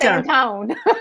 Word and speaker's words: San Antonio: The way we say it, San Antone. I guess so. No one else would know what we were talking about. So thank you for saying it correctly.